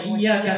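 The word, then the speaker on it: إِيَّاكَ: Dan bacanya jangan sampai tasjidnya dihilangkan. Kalau iyyaka na'budu wa iyyaka nasta'in maknanya tanpa tasjid, saya menyembah kepada matahari dan saya minta tolong kepada matahari.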